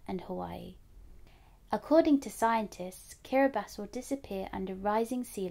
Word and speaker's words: Kiribati: That's pronounced Kiribati. Let's say it together one more time. Kiribati. Kiribati has a population of over 100,000.